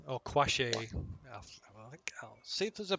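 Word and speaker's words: Qawasha: It's a Chilton name, so I'll see if there's a pronunciation of it. Probably isn't. Bouquet instead of bucket. Yeah. Oh, there is. Yep. Kawasha.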